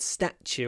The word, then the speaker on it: statue: looking at the word statue aren't we statue stat stat stat statue it's another ST which is pronounced d statue statue with a smile